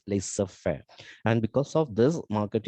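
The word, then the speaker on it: laissez-faire: policy of laser fare it is pronounced as laser fair and because of this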